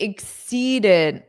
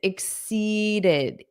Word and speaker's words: exceeded: Yes, it exceeded. Notice that pronunciation exceeded, did. So you need that long E, but then you also need did. You need a soft D at the end.